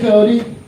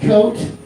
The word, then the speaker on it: Cote: My name is Cody. C O T E. It's not pronounced coat.